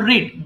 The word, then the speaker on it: read: Ma'am, when that means did you read? Did first, so the second, that means next verb will be present form. But when you answered I read, the pronunciation will be read, R-E-D, read.